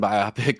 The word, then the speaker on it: biopic: Like I think because my buddy also says whatever biopic, it is, biopic, and I'm like, what the fuck is a biopic?